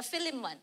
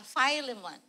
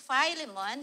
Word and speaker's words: Philemon: But this is not the Philimon this is uh filemon in the Canadian uh pronunciation. It's Philemon.